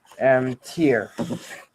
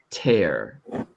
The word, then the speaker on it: tear: Tier. That's a good try. It's actually tear.